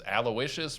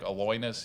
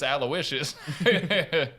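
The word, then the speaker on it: Aloysius: And I his middle name's Alawishas, but I didn't know how to say it, so I used to go Patrick Aloyinus. You till somebody was like, I think it's Alawishas.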